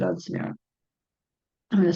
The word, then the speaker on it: Sumaira: Sumaira, Sumaira, Sumaira, is the pronunciation of Sumaira.